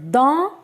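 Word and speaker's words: dans: of sounds oh and s which is coming at the end that is silent so the pronunciation is in or inside okay so don is in our inside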